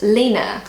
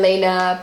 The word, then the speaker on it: Lena: So I pronounce the name Lena, but in Germany they pronounce it Lena, according to Google Translate.